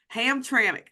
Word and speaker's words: Hamtramck: Okay, so Hamtramck.